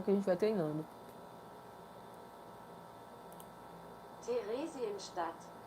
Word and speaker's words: Theresienstadt: Theresienstadt. Deixa eu ver aqui como é que pronuncia.